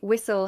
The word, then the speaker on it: whistle: In whistle, the t is silent. No, the t is pronounced. Actually, whistle has a t sound.